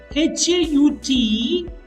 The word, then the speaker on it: haut: The pronunciation of H-A-U-T and H-A-U-T-S doesn't change. O.